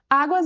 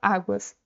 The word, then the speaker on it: águas: Pessoal, como que fica a separação silábica da palavra águas? Á-guas. Então, ela tem duas sílabas e a sílaba tônica é a penúltima sílaba, a.